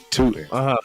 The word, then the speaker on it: Tuten: I don't even know how to pronounce his first name. It's Basul. I want to say it's Basul. Bhayshul. Tuten.